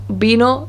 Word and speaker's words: vino: we were to read both of those words in english it would be vino and vaca whereas in spanish it's bino and baka it's also quite typical